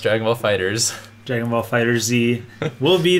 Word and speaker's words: FighterZ: Officially pronounced Dragon Ball FighterZ.